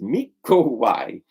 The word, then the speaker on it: Mikołaj: Nicholas, or Mikołaj, pronounced Mikołaj.